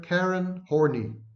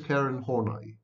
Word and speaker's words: Horney: of psychology no less pronouncing her name is karen karen horny that must have been a projection of some sort and i don't want to go any into any sordid details but her name is karen hornay it's a german pronunciation horna is one of